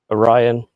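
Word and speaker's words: Oryon: Orion. Dang it. You keep saying, you keep saying Orin like Nvidia Orin.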